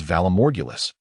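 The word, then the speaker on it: Valar Morghulis: Think remarked, "Valamorgulus, pronounced as Valamorgulus, means that all mortals must face death.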